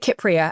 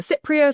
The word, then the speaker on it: Kypria: Sometimes people will have heard of it maybe as the Cypria. Sometimes it's said with a soft C. In Greek, it's from Kupros, Kupria. So it would be with that hard K.